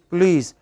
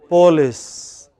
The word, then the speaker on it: police: Similarly, our researchers found that when you do not pronounce police, how should it be pronounced? Police. But many people from Maharashtra, Andhra pronounce it as police.